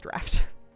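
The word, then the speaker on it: draught: I think it's draft but it's d r a u g ht which is like just go away and stop bullying me.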